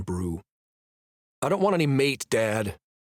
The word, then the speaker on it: mate: I don't want any mate, Dad. I pronounce it wrong because I'm irritated with him. Zach, you know it's mate.